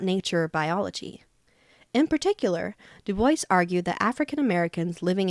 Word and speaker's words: Du Bois: Du Bois, 1868 to 1963, pronounced Du Bois, wrote essays and articles about virtually everything concerned with America's struggles with racial identity.